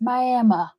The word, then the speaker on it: Miami: is it looks like Miami but it is pronounced Miami and there are a handful of really cool